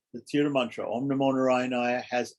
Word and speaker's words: Narayanaya: As it is said, Om is 1 syllable. Namaha is 2 syllables. And Narayanaya has 5 syllables.